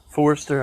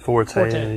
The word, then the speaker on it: Forte: a Kia Forester, I guess is how you say it. We'll take care of it. Forte.